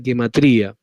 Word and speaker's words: gematría: U, se escribe Gematria, se escribe gematría. Se escribe así básicamente por ignorancia, pero está puesto ya en todas partes, se escribe así, porque en realidad se debe pronunciar gematría. Porque aun cuando pueda sorprender